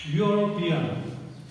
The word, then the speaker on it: European: This is vowel letter, but this has consonant sound. Its initial pronunciation is European. European. Yaw. This yaw is letter that belongs to ka to gya. So European is a word that has initial consonant sound.